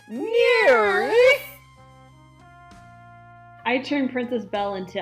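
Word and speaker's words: NIRYF: i r YF pod those are the letters for the name of the show and it's pronounced near I turned princess Bell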